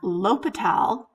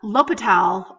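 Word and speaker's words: L'Hôpital: little history included on l'hopital with i couldn't make that little symbol because that's in google um docs uh l'hopital or la hospital which is pronounced l'hopital's um about the spelling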